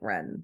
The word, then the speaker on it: Wren: Yes, but if you say WRN, and if you would just put those letters together and try to pronounce them, what would it sound like? It would kind of sound like Ren, so they just put the E in there.